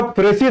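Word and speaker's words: précis: अगला प्रेसी राइटिंग, जिसको लोग गलती से प्रिसाइज राइटिंग कहते हैं। सही उच्चारण यानी प्रोनाउंसिएशन बहुत जरूरी है बेटा। तो प्रिसाइज राइटिंग, जिसको प्रेसी राइटिंग एक्चुअल प्रोनाउंसिएशन है, एक क्वेश्चन आता है और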